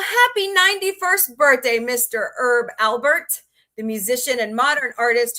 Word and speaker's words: Alpert: Albert. Alpert, sorry.